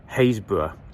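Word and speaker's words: Happisburgh: but they pronounce it Haysborough and don't pronounce the double P.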